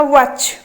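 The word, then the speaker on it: watch: option D अछि एच ताने वाच रे हमर साइलेंट कोटा रहउछि के कोइ परिबो टी टी टा हमर साइलेंट रहउछि आमे वाटर चे कहउचंती कि आमे कहउचंती वाच ताने टी टा साइलेंट ऑप्शन सी हे जिबो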